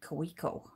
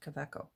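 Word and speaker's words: Kaweco: german made fountain pen um i had been pronouncing it cuico until i started watching videos and apparently it's pronounced caveco and it came with a blue ink cartridge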